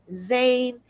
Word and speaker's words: Zane: How do you pronounce the baby's name? Zane. It rhymes with rain."